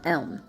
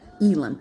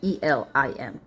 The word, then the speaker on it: Elim: The water the waters of Marara and Elm, M-A-R-A-H, Marara and Elim, I should say, E-L-I-M, Elim.